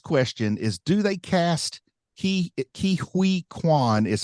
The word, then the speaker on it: Ke Huy Quan: But I say Ke Huy Quan when I say his name. I know it's not Hui.